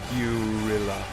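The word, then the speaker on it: Guerrilla: of red fraction gorilla it says gorilla but you know it's actually gurilla guill I don't know it's like something I just can't pronounce it okay why do they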